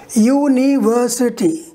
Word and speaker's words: university: little higher for example in the word university as i told you there are five syllables one syllable will be higher and the other four will be lower but how look here university the third one will